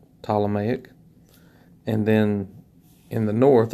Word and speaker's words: Ptolemaic: the Egyptian Ptolemaic Kingdom spelled with a PT o L Ptolemaic and then in the